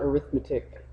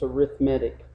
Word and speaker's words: arithmetic: arithmetic progressions okay and notice how I'm pronouncing that it's not arithmetic sequences it's arithmetic arithmetic sequences and series okay